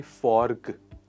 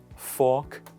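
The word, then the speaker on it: fork: verb है फोर्क आउट यहां पर आर साइलेंट है जब भी आर की बात कोई कंसोनेंट साउंड आती है उसे पार्टिकुलर वर्ड में और साइलेंट होता है सो हम नहीं बोलते फोर्क हम कहते हैं प्लीज रिपीट आफ्टर मी फाग आउट इसका मतलब है जब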